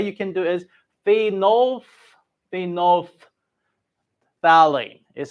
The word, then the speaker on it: phenolphthalein: So the way you can do it is phenolphthalein is how you need to pronounce.